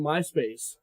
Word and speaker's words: Myspace: the underscores yes so how do we pronounce that my no it's Myspace still okay the underscore represents a space okay breaking it down